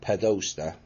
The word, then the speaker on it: Podesta: And one of them, dated Tuesday, January the 25th, 2011 at 3:28 p.m, was sent to Huma Abedin, Barack Obama, John Podesta, yes, I pronounced that correctly, Ben Affleck, and Nancy Pelosi.